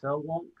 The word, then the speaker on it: Selwonk: It's Selwonk Enterprise. Is that how you say it? Yes.